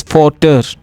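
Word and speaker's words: Vater: We will not pronounce V as V. We pronounce V as Fau. For example, the spelling of father is not F-A-T-H-E-R. It is V-A-T-E-R. It is Fater.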